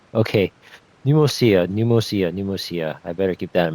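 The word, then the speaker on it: Pneumousia: Oh, so that's how it's pronounced. Pneumosia. I kept my. I don't know why I keep my first initial thought was pneumonia, but it's pronounced pneumosia. Okay, pneumosia.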